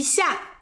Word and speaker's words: 一下: 就用“一下” use "yí xià", 比较百搭 it's more versatile.